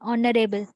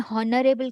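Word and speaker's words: honourable: ना are sound होची जेतेबे हमें प्रोनाउंस करचू तार साउंड होची vowel भया सुबुची ऑनरेबल हमें हॉनरेबल कहनु हमें ऑनरेबल कोच अ ए तो सेति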